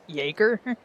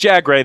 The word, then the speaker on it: Jagger: Also, is that actually how it's pronounced and not like Jerger? No, it's pronounced Jagger. They have been saying it out loud.